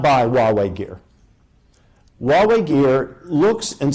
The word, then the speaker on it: Huawei: issue of Chinese equipment, Huawei, spelled Huawei, rhymes with Amway. Huawei and their alleged fierce competitor, ZTE.